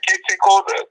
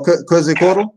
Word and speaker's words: Quetzalcoatl: Kete Kota. I can't pronounce his name. Oh, Quetzalcoatl?